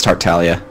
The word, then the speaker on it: Tartaglia: And then we've got Tartaglia. Did I pronounce that right? You don't pronounce the G, so it's Tartaglia.